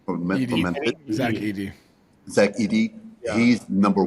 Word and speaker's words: Zach Edey: Is that how you pronounce his name from Memphis? Zach Edey.